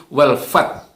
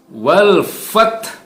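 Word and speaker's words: والفتح: Kalau huruf ha yang bertanda sukun ini tidak terdengar sehingga hanya berbunyi wal fath, ya, maka ini berarti kita menghilangkan satu huruf. Dan ini salah besar. Ya, maka membacanya harus wal fath. Wal fath, ya, ada hamas, ada udara yang keluar, ya, wal fath, ya. Nah, haknya hak tipis, jadi jangan juga terlalu berat. Wal fath, tidak, bukan wal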